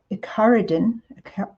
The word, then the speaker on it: Icaridin: It's Icaridin. I believe it's pronounced, or similar to that.